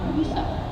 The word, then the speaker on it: USA: With a little piece on the nose, we see Donna Stebecki take the stage with her border collie USA. Pronounced, as we say in Sweden, Musa.